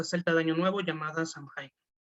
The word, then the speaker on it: Samhain: Es bueno, un derivado de la fiesta celta de Año Nuevo llamada Samhain, o Samhain, como se prefiere pronunciar.